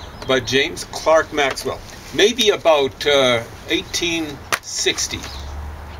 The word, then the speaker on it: Clerk: what I can gathers James Clark Maxwell is spelled Clerk Maxwell but James Clark Maxwell maybe about uh 1860.